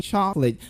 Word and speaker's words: chocolate: You say chocolate. Now, in the word chocolate, we have CO totally disappearing. So when you're pronouncing that word, you say chocolate.